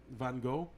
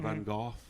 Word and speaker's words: Van Gogh: And one theory of this is that there's some people think that Van Gogh or Van Gogh, depending on how you're pronouncing it, is that he might